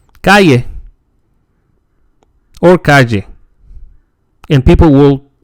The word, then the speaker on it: calle: The L is pronounced like the English yeah, calle, calle. In Spain, it was formerly pronounced as l. And some conservative older speakers still use this pronunciation, calle, calle. We can also mention that in Argentina, they say sh. So if you hear someone saying calle, that person is from Argentina.